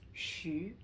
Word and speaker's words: xu: So whenever you see XU, it's always pronounced as shu.